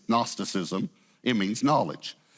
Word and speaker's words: Gnosticism: The G is silent. It's Gnosticism.